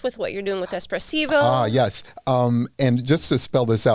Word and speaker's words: espressivo: can people connect with what you're doing with espressivo oh yes um and just to spell this